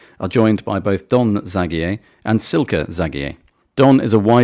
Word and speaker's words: Zagier: And I've chosen to say it Zagier. You were pointing out to me, Don, earlier that it doesn't matter how I pronounce it because you're very easygoing. Everything is correct. I know at least 8 different pronunciations in different countries and I'm used to them all by now.